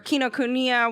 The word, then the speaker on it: Kinokuniya: to get in here right next door was kino kunya or kinokuniya whatever however you i don't know how are we pronouncing oh you got it right yeah oh